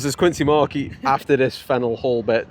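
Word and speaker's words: Faneuil Hall: This is Fennel Hall. I wouldn't pronounce it Fennel, but Stacey did her homework.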